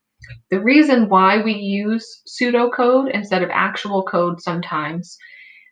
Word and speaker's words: pseudocode: keep in mind though that p at the beginning of the word is silent so we're not going to pronounce the p it's just pronounced pseudo